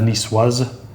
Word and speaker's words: niçoise: You see the same thing with Nice, the town of Nice. And that goes to, when you turn it into niçois, like a salad, the salade niçoise. Salade niçoise. You need to put the little, the cd on the end.